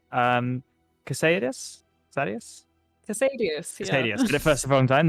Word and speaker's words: Casadius: Casadius, yeah.